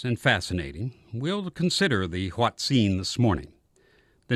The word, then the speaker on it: hoatzin: is so curious and fascinating we'll consider the H scene this morning the name is spelled h o a t z i n